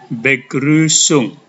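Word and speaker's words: Begrüßung: namanya s dalam bahasa Jerman itu dibaca seperti Huruf SS maka kata ini dibaca begrusung Saya ulangi begrusung begrusung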